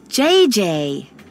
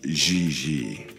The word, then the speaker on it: J.J.: JJ. En français, you pronounce G like J and J like G. She may very well be JJ in America, but in France, she is Gigi.